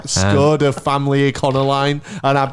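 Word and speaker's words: Škoda: sounds about right I think you'll find it's pronounced skoda I know it's 11 p.m on a Sunday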